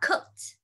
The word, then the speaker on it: cooked: Okay, cái từ này mình sẽ đọc là cooked. Âm ed mình sẽ đọc là âm chữ t con ạ.